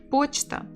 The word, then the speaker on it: Почта: Почта. The stress here. Почта. Почта. 2 syllables. Stress on the first.